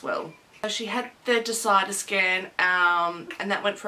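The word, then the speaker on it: DISIDA: next day she was having a scan called Decider. It's, for anyone that's interested, it's spelled D-I-S-I-D-A.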